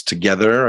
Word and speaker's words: TOGETHXR: pronounce it there it's together i guess but the x itself is silent i suppose um you